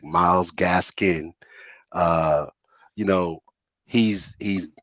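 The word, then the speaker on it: Myles Gaskin: you think about uh miles Gaskins miles Gaskin excuse me let me say his name right he deserves that respect miles gasin uh you know he's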